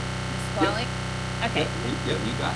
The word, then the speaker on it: Nisqually: Okay, you're gonna have to start by telling me whether I pronounced that right. Nisqually? Yep. Okay. Yep, you got it, Nisqually.